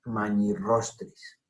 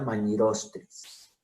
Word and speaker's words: magnirostris: Entonces, magnirostris. No se diría magnirostris. Lo ideal sería que escribiéramos con doble R para que el lector hablante supiera cómo debe pronunciar la palabra.